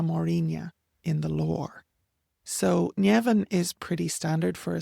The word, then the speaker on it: Nemhain: Then we have Llewellyn, and Llewellyn is not explicitly named as one of the daughters of Ernmas, but very firmly linked within the plural of na Mórrígna in the lore. So Llewellyn is pretty standard for a spelling, but she